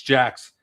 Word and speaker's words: Jaquez: It looks like Jaquez, but it's Jacks.